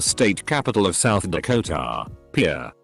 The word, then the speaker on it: Pierre: capital of south dakota pierre wrong she kept saying here two syllables like the french name and he said it was here one syllable like what you fish off of he